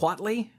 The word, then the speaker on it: Watley: and B team Watley is that right Watley that's what I would say okay good cuz that's how I've been saying it on two shows now so I might I probably wouldn't pronounce 2h as much but well you know